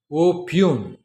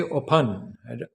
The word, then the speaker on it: oppugn: p u g n okay opun what you could say opan I mean there are variety of ways you could pronounce it but opun is one